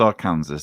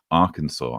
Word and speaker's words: Arkansas: Yes, you see, it's not pronounced Arkansas. Don't anyone tell me it's pronounced Arkansas. It's pronounced Arkansas.